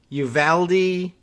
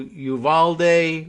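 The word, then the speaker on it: Uvalde: going with the anglicized uvaldi pronunciation or are they going with the more spanish smooth vowel you've all day or oh and i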